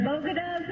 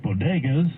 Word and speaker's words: bodegas: Pink as the bogotas of the Bronx, as beautiful as the blossoms of Miami, and as unique as the breakfast tacos here in San Antonio. For one thing, she mispronounced bodegas.